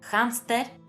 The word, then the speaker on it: hámster: Aunque en español la "h" no se pronuncie, en algunas palabras procedentes de otros idiomas es habitual pronunciarla como una "j" aspirada. Algunos ejemplos son "hámster", "hándicap", "Hawái" o "Sáhara".